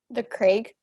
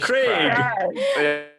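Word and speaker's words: The Crag: The Craig. Correct. Say it like that. The Craig / Craig. Crag. What's the French pronunciation?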